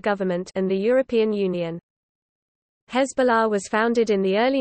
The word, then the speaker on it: Hezbollah: Hezbollah, pronounced Arabic Hesbu la, literally Party of Allah or Party of God,